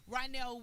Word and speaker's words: Rynell: I always say his name wrong. Rynell, the visionary. Rynell Wilson, the visionary, right?